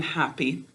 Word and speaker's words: happy: We don't hear two p's in happy. This one is here to close the first syllable and keep the vowel from saying its name. It is silent.